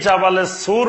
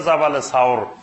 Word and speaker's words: জাবালে সাওর: নূর আর জাবালে সুর এই জাবালে সুর বা এটা শুদ্ধ উচ্চারণ হলো জাবালে সাওর এই সাওর পাহাড়ের গুহায়